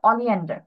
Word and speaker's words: oleander: Pronunciation হবে অলিয়ান্ডার। Miss, জুতোর ইংলিশটা একটু বলবেন? দাতুরা। ঠিক আছে, ধাতুরা এভাবে উচ্চারণ করবে, ধাতুরা ধুতুরা।